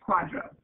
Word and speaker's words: QDRO: for qualified Domestic Relations order you'll heard that pronounced Quadro qdro and that's what it's dealing with is